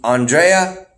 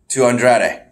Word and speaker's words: Andrade: moving along we would have a match between aundrea and rey mysterio ultimately ramos - you lost that match - Andrade I said it wrong before that sucks we